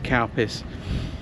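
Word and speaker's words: Calpis: l p i s CPUs but it's people pronounce it as CPUs um there's two different types though there's CPUs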